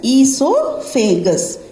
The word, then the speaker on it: esophagus: Okay, it is pronounced as esophagus.